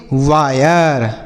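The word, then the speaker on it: wire: डब्ल्यू आई आर ई इसे हम पढ़ेंगे वायर। समझ में आया? क्यों पढ़ा जा रहा है? क्योंकि आई के बाद अगर आर इ रहेगा तो आई का उच्चारण आई।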